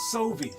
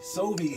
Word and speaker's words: Sovi: So if you need your roof fix, it's Sovi. Sovi is how you pronounce that.